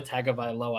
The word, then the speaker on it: Tagovailoa: It's Tua Tagovailoa.